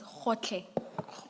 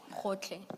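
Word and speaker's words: Gotlhe: It's Khotle. Khotle. Thank you, thank you. And maybe, Ms. Hassim, it may have to be spelled for the transcript. Thank you. And that's spelled G-O-T-L-H-E. Hotle.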